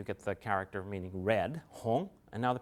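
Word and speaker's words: 红: And then we have silk, perhaps thinking of dyed red silk, and so you get the character meaning red, hong, and now the pronunciation is even further removed from gong.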